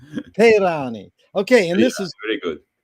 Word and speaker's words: Peyrani: Peyrani. Peyrani.